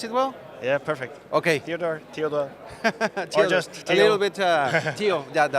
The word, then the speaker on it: Theodor: Theodor uh did I pronounce it well? Yeah, perfect. Okay. Theodor just a little bit uh that that's more common.